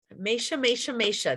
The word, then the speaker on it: Mascia: Amanda Mascia. I have to practice her last name. Did I say it right? Mascia.